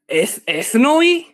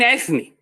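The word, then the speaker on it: ἔθνη: ago, and he said, ethnoi? And I'm like, you mean ethne? Like, you don't even know that O and I in Greek, it's pronounced E.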